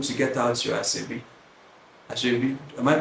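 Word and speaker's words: aso ebi: Asebi, am I pronouncing it correctly? Asebi.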